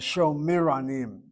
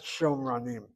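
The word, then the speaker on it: שומרונים: It should be pronounced as Shomiranim, not Shomranim. See how easily I fall into the problem? I speak like an Israeli. Shomranim is how they say it. It should be Sho, long vowel, and then the Shva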